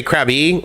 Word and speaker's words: Krabi: crabby or krabby um i've actually heard it pronounced krabi you know where basically the eye it's got that one of the five tones that show up in thai so the short answer is i say krabi and everyone else that